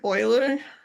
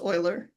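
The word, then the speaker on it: Euler: be the way to do it um project Oiler so that's how it's pronounced it's not eer it's actually pronounced Oiler this has been around a very long time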